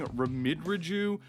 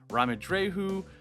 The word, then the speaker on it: Ramidreju: I was saying Ramidraju, which is super wrong. I forgot that this is from Spain, so obviously it should be pronounced Ramidreju.